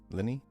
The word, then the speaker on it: Lyney: How do you spell it? Lyney? Lenny?